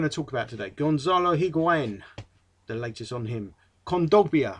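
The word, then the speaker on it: Higuaín: pronounce it anymore but it's argentinian so it'd be a spanish pronunciation pronunciation which would be higuain sorry i'll keep itching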